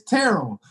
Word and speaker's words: Terrell: You have to have a certain dialect to say name correctly. Say it correct. It's Terrell. But Terrell.